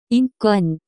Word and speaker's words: 인권: The pronunciation of this word is closer to 인권.